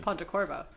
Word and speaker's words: Pontecorvo: She's unimpressed by my pronunciation. I think it's just Pontecorvo.